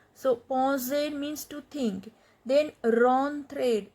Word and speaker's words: penser: Penser means to think. So you know en sound, nasal sound en, penser.